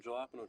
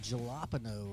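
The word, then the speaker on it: jalapeño: the you guys talking about jalapeno that's how you pronounce it I know how to pronounce it I ordered jalapeno I ordered jalopano Randall what was that I I know I've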